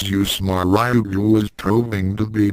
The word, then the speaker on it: UWSMA: Ryouga brought them all down, in the name of the unorthodox weaponry school of martial arts or UWSMA, pronounced as USMA.